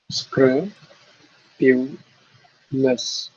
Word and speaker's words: scrupulous: Number 3 syllables. Yeah, 3 syllables. So which would be? Try syllabifying. Screw, pew, less. Ha. It has to be screw, pew, and less.